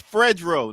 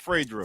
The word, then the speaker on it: Fredro: yeah and and jared his name is fredro not fredrik fred's my bad no problem